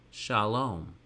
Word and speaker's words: Shalom: We can do the same thing with Shalom. We have the letter shin and kamatz in yellow for sha, your mouth stays open for an open syllable, and lom, lamed, cholam vav, and mem sofit for closed.